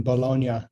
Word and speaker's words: Bologna: I saw that your mom is in Bologna. That's nice. Yeah, people have asked me how to pronounce that word too. They're like, is it bologna? And I was like, no. Bologna? No, it's not bologna.